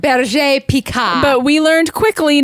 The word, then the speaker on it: Berger Picard: Well, the way you're supposed to say it is Berger Picard. Berger peacock.